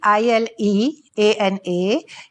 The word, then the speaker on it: Ileana: केमती लिखा जाए छी ILEANA किंतु इटालियन भाषा रे ILE is pronounced as Ile.